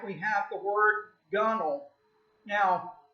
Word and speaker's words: gunwale: we have the word gunnel now it's bell gunwale but it's pronounced that W is silent and ain't gonna get